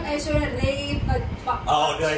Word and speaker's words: Aishwarya Rai Bachchan: So have you learned how to pronounce Aishwarya Rai Bachchan now? Oh. Aishwarya Rai Bachchan? Yeah. Am I saying that correctly? Yeah. It's because you just said it though. It's not Aishwarya Rai Bachchan.